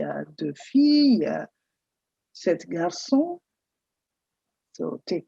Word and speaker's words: filles: You note there are There is an S added after "filles" because there are two girls, it's plural, but you do not pronounce the S. It's silent.